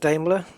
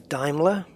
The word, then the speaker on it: Daimler: ever invented ever which was damler it's not pronounced dler as I found out is Daimler so I've learned something yeah anyway we're not